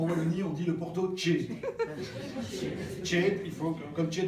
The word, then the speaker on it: tiède: On ne dit pas le Porto tiède, en Wallonie, on dit le Porto tiède.